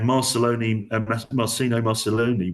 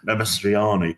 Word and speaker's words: Mastroianni: And Marcino Marcelloni, well, I've said it wrong, Mastroianni would have played the hitman, always the guy who Amadou was always going to play the terrorist.